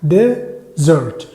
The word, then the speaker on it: desert: هي كلمه ديزرت ده دي اي الاي اللي بعد الدي في ديزرت صحرا دي بتنطقها قريبه من الفتحه ديزيرت بيكون الاستريس او الحاجه كده قريبه من الشده على المقطع الاولاني تمام كده تمام عظيم